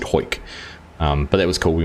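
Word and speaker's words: Hawick: It's spelled Howick, H-O-W-I-C-K, or Harwick, H-A-W, but it's said Hoyk.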